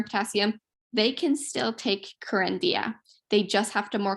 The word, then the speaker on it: Kerendia: So I know this is a stretch because it's pronounced Kerendia, but Karen is in the name.